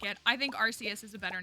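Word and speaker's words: Arceus: I had to force myself to start saying archus because I've like been on podcasts and I've made content about archus and if I want the Pokemon company to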